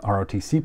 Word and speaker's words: ROTC: Junior ROTC program now when I was a kid I heard people pronounce this as a rotcy but I've I've since heard that this is kind of pejorative so I'm going to stick with the pronunciation of ROTC again tell me if